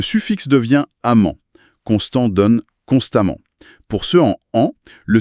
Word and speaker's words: constamment: Dans les deux cas, on prononce amant. Ah oui, c'est vrai. Constamment et prudemment se prononce pareil à la fin.